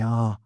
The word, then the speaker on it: ah: divant instead of don't, and a instead of I. Do you yourselves do you feel you use any of those? I mean, I think you both kind of say ah instead of I, don't you?